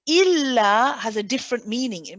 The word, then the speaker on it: إلا: Okay, so here, make sure you say il, hold the tawassut, then the la.